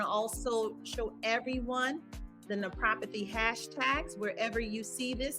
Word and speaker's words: naprapathy: I can't tell you how many times people, they look at the word, and I get why they pronounce it this way. They say naprapathy. And it's always funny to hear every time. And I mean, it took me a few years when I first got introduced to the field to really be able to pronounce it. So yes, it is 4 syllables.